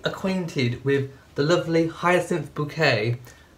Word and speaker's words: Bouquet: Now, by the way, those of you who love cruising, who may not be acquainted with the lovely Hyacinth Bouquet, spelt bucket, pronounced bouquet, and Richard, notice the hat?